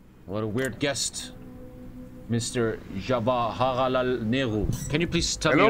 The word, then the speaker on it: Jawaharlal Nehru: My name is Jawaharlal Nehru. This is the accurate pronunciation. Please say it correctly. Can you repeat it for me? Jawaharlal Nehru.